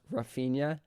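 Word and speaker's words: Raphinha: trying I think because technically you're supposed to pronounce Rafia and Ro like ha or H something like that that's too distracting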